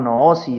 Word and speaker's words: gnosis: se le denominó como gnosis o no o si es como se pronuncia en griego pues realmente es una